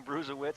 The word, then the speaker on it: Bruesewitz: there 511 212 pounds nice last name for a linebacker see Bruce Lewis it's kind of like Urlacher rhyming with linebacker that kind of thing bruiser wits he certainly got a